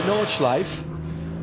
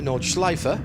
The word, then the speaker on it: Nordschleife: and on a circuit like the Nordschleife, or as some people would prefer it to be, the Nordschleife. I used to call it the Nordschleife until a German driver told me that wasn't the right way to say it. So have it whichever way you will.